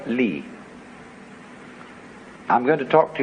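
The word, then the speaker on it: 理: he has a sense of what is called li. I'm going to talk to you about another meaning of a word pronounced li later on, but it's quite a different word.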